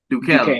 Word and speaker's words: Duquesne: How do you pronounce that college? I get it. I butcher it every time. Duquesne.